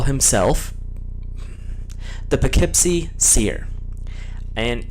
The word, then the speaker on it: Poughkeepsie: the Poughkeepsie seer and I actually looked that up so I spelled I'm saying it correctly although when you look at how it's actually spelled out it's not how it sounds in the slightest um Legend holds that